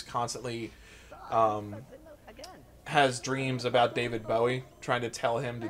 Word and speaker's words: Bowie: an actual building David Bowie it's actually pronounced bowie bowie have you ever watched